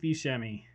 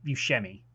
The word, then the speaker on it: Buscemi: casting steve bischemi steve buscemi how do you say his last name is it scary or bruce i say you shemmy are you telling me